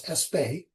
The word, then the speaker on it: Aspect: In 1982, Allan Espay frequently people pronounce his name as Asp aspect but I believe he's French I think it's Espay.